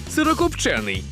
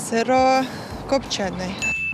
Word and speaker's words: сирокопчений: запам'ятали повторимо усі разом сирокопчений сирокопчений сирокопчений сирокопчений Просто копчений зафіксували у слові сирокопчений наголос буде на звук е сирокопчений а мінус відкриваємо